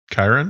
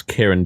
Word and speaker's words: Charon: Chiron? Like CHIRON or Yeah, No. it's Greek CH. Undertaker. oh CHARON. Yeah. Okay, but that more one. pronounced Karen. Like, Right. I gotcha. Like the actual female name.